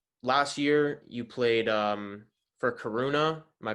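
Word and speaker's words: Coruña: So last year you played for Coruna. Am I pronouncing that right? Coruna.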